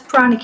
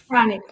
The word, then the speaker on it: pranic: So, that's panic healing. And um the word healing, panic, stop for our audience. Pranic.